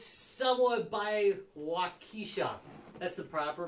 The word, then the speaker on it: Waukesha: we're right back in there it's somewhat by waukesha that's the proper pronunciation yeah the locals call it waukesha but wakisha she she would she would beg to differ